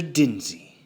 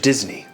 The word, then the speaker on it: Disney: Dinsey. No. Mr. Disney.